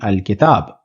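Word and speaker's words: الكتاب: because the alphabet that follows the Lam, which is Kaf, is included in Haqqa Khaf Ajab Gham Hai, or it is included in the list of Qamari Huruf or moon letters. So the final pronunciation will be Al-Kitab.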